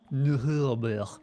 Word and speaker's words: Naheulbeuk: Apparently it's a it's the French pronunciation. Oh my god. What? Oh my god, it is. It's a French pronunciation, so it's Naheulbeuk.